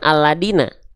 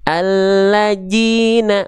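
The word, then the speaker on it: الذين: Seringki kita melafazkan dalal tertukar dengan huruf dal. Betul. Nah, dibacanya jadinya gini. Alladzina. Nah, itu kesalahan besar itu bukan alladina.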